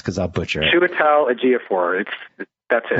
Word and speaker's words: Chiwetel Ejiofor: Then you have 12 Years a Slave guy, whose name I'm not going to attempt to pronounce because I'll butcher it. Chiwetel Ejiofor.